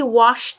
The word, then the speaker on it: washed: He washed the sock.